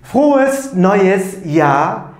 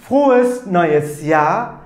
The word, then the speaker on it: Frohes neues Jahr: Arkadaşlar, mutlu yıllar demeyi doğru telaffuzuyla söyleyelim. Frohes neues Jahr 2019. Tekrarlıyorum. Frohes neues Jahr 2019.